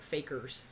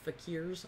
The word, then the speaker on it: fakirs: It looks like fakers, but fakirs. I think is how you say that.